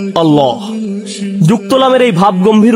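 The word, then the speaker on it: الله: কিন্তু আল্লাহ শব্দটি উচ্চারণের সময় এই নামের প্রতি সম্মান প্রদর্শন করতে আমরা তাফসিম করি। অর্থাৎ ভাব গম্ভীর স্বরে উচ্চারণ করি আল্লাহ।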